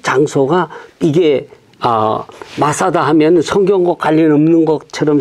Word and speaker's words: 마사다: 그래서 이제 아까도 잠깐 말씀드렸지만 그래서 메짜다가 헬라식 발음으로 하면 마사다가 된 거예요. 근데 그 장소가 이게 마사다 하면 성경과 관련 없는 것처럼 생각하지만 바로 요 다윗이 요새에 있을 때에 네.